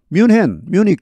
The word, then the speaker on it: Munich: 뮤닉, 영어 발음 뮤닉이죠.